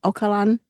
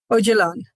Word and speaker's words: Öcalan: I never never remember how to pronounce his name. The the the Kurdish leader, male, who heads this women's movement. Is it Öcalan? Öcalan. Öcalan. Abdullah Öcalan. Yes.